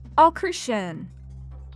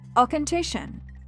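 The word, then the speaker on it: Auchentoshan: Professor, this lowland distillery is pronounced “Ah-KERR-shin!” “Ah-KERR-shin?” Did I do that right? That's pretty good. When you say it, your throat should feel slightly awkward or uncomfortable. “Ah-ken-TISHIN.”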